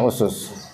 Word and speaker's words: usus: usul fikih adalah usus di bacanya usus kalau ada Alif setelah Sin pertama bacanya asas nah jamaknya asas itu usus yaitu pondasi-pondasi atau dasar-dasar